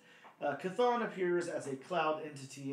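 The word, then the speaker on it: Chthon: as well um now how do I pronounce this character's name Bob kathon kathon okay wow the CH oh okay yeah that makes sense cathon appears as a cloud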